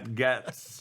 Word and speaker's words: Gaetz: My loser is his arch nemesis, Matt Gaetz or Gates. I think Gates is how they pronounce Gates it.